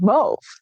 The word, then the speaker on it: mauve: How did he know to spell it with an A-U? Why wouldn't he spell it with an O? Movin, probably because of the fact that it was made from quinine.